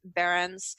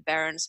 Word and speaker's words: Behrens: That's spelled B-E-R-E-N-S, Behrens.